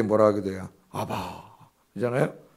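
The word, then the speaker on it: אבא: 아바. 그러잖아요? 아바. 참 정겹게도 우리의 아빠하고 발음이 똑같아요.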